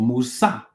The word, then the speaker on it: Musa: Mus or Musa is how you say it.